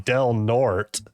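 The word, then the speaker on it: Del Norte: I'm like, "Okay, how do you say the name of this city?" And she was like, "Delnort."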